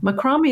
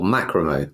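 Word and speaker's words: macramé: Macrame is using string to make the emphasis was on the first syllable, macrame.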